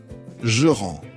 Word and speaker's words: je rends: When you write these verbs down with je, you add an S. But when you speak, often both the S and the letter right before it are completely silent.